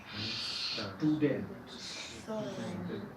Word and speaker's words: Student: Y este mismo ruido hacemos también en la combinación ST en el inicio de una sílaba. Student. Umstand. Es solo en el comienzo de la sílaba.